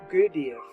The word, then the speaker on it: Gurdjieff: This exercise was given by the great master Gurdjieff, or more correctly pronounced Gurdjieff.